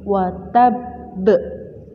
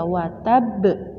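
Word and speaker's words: وَتَبَّ: Tapi membacanya lebih berat, lebih dipantulkan, lebih ditekan karena terdapat syiddah. Maka membacanya adalah tabat yada abilahabi watab watab. Tidak boleh biasa saja, watab salah karena terdapat syiddah.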